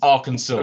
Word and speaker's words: Arkansas: is Kansas pronounced Kansas and Arkansas is pronounced aranso okay I I just